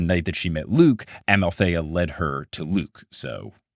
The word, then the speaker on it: Amalthea: Thalia explains that this goat is Amalthea.